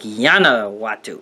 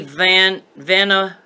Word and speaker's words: Vanuatu: Vanuatu? Vanuatu. Is there such a country? If it was a Y, that would be silly. That would be like Yanawatu. No, it's got to be Vanuatu.